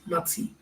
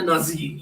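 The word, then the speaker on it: Nazi: नात्सी, ना आधा था, सा बड़ी की मात्रा, तो वो नात्सी, ये नात्सी लफ्ज होता है ना कि नाजी, ये सब हमारे यहाँ से बोलते हैं सब डब डब, और जो प्रोनाउंसिएशन है वो नात्सी है।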